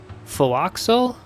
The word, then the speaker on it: forecastle: Oh wait, the forecastle's pronounced Philoxel? Oh, because it's not American and stuff, right?